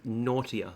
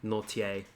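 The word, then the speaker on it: Nortje: was pretty close but it's naughtier so if you think naughty but bur so naughty a' is how to pronounce his name I think I was calling him nor TA but that's pretty close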